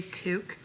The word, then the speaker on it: toque: beanie a beanie beanie we call it toque but it doesn't even spell proper like it's so wild t-o-q-u-e well you call it